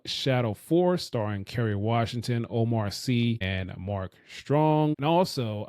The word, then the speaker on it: Omar Sy: His name, the name is pronounced is Omar C, not Sai.